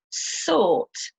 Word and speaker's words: sought: from the verb fight, sought, from the verb seek, which means look for something, and thought, from the verb think. Bought, brought, fought, sought, thought. So you don't pronounce the G sound at all.